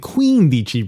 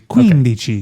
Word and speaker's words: quindici: So are you saying quindici because the emphasis is on the first part of that? Okay. Yeah, I'm pronouncing it like it should be. Quindici.